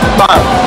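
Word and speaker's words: 빵: Yeah, so bread was bang. Bang. Bang. And the important thing is to explode with that B. You can't just say bang. Gotta hit it with bang.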